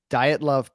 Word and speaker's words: Dyatlov: But so it's pronounced from what I saw, Dyatlov Pass Incident.